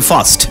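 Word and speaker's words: first: এই আর এর পরে কিন্তু এস রয়েছে, অর্থাৎ কনসোনেন্ট সাউন্ড, তাহলে এই আর উচ্চারণ করবে না, ওরা বলে ফার্স্ট, আর বাদ দিয়ে বলবে একেবারে, কারণ আর এর পরে ভাওয়েল নাই তো আর এর বেইল নাই, বুঝছেন?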